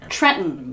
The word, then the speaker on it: Trenton: Trenton. Trenton. Trenton. Trenton. I grew up in Trenton. Yeah, it's that glottal stop. Trenton.